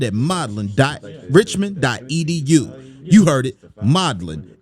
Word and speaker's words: Modlin: You heard it, modellin. m o d l i n.riichman. You know how to spell that.edu.